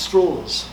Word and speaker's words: Strauss: way you know Strauss insisted that his surname be pronounced straws for a reason that nobody quite understood um his name was